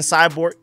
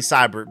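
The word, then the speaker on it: Seibert: it also moving on to special teams Austin cyborg AKA Austin cyborg I know his name is technically cyber but I naturally pronounce it as cybor because I keep accidentally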